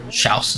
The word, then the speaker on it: Chaos: Chaos, or Schaus as they pronounce it.